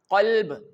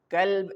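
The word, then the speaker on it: قلب: For example, the very famous example qalb, here the mistake which are done by most of the people is the changing of qaf with the simple kaf, which means dog. If we recite the qalb, it means heart, but if we recite the kalb, it means dog.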